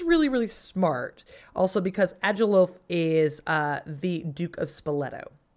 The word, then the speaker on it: Agilulf: Agilulf. Agilulf. He definitely won't get. I'm glad you pronounced it, because I was gonna go with like Agalulf.